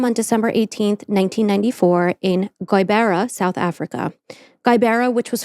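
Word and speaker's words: Gqeberha: So listen to how it's spelled. G-Q. Yeah, no. E. What is it, Irish? B-E-R-A-H. G-Q. E-R. E-B-E. E-B-E-R-R-R-H-A. R-H-A. And I looked it up and practiced, and I wrote it phonetically. G-U-Y-B-A-R-E-H-U-H. Guibera.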